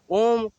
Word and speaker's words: ओम: का उच्चारण किया था, तो ओम का उच्चारण ऐसा नहीं, ओम का थोड़ा आ ए ई उ म ऐसे आए, ओम मैंने पाँचों शब्द उसमें, 5 6 शब्द पूरे आते हैं उसके अंदर।